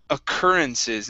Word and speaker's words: occurrences: uh next up is occurrences instead of occurences this Ur is only an R sound occur occurrences occurrences okay